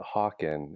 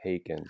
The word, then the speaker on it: Haken: but I have always called it Hawken, and then somebody finally told me no, it's pronounced Haken, and Right.